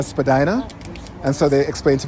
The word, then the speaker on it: Spadina: the because everybody keeps talking about this whole Spadina Spadina and so they explained to me what why